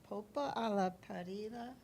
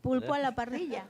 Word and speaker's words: pulpo a la parrilla: Popa a la parrilla. Right. Yeah. Pulpo a la Yeah, that's parrilla. correct. Pulpo a la parrilla.